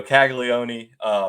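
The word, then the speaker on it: Caglianone: Jack Caglione. There you go, Caglione.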